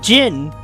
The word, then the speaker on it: Zin: pronounce it first it's I've been pronouncing Zin wrong this whole time it's Jin I'm like ah and